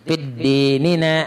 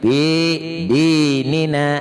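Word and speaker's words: في ديننا: Bila pian pakai tasdid fid dinina, nah itu salah sudah. Jadi nang bujurnya itu fi dinina.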